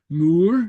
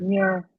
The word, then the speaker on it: muir: Moor. Muir. Moor. Yeah. Sea.